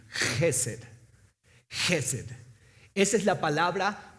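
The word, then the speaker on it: חסד: Misericordia viene de una palabra hebrea que es Gesed, con K al inicio. En el español se escribe así para que podamos darle ese sonido como de carraspera al inicio.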